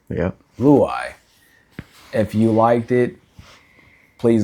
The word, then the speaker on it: Luyeye: Luyeye.